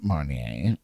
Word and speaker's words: Marnier: Well, you guys, this week's cocktail of the week is inspired by it being National Grand Marnier Day, or Mariner Day, or Marnier Day, however you pronounce it.